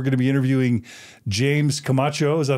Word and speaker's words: Camacho: We're going to be interviewing James Camacho. Is that how you pronounce it, James?